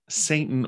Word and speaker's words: Satan: before the lord and satan came also among them now a lot of scholars will point out that the word use here satan or as it would have been pronounced in hebrew satan may or may